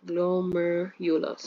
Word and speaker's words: glomerulus: With this bad pronunciation, but glomerulus, right?